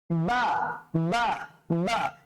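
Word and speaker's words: باء: বাটা উচ্চারণ করার সময় আমরা কিভাবে করব? দুই ঠোঁটটা লেগে যাবে, বা, বা, বা।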